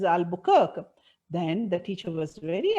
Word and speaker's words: Albuquerque: She said, it is not Albuquerque, ma'am, it is Albuquerque.